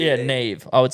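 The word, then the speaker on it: Neave: yeah sometime let's let's run it back it's Nave hi we're from England and we're having a debate about how you would pronounce my name spell NE e a v e ne e a v yeah Nave I would say Nave Nave is that an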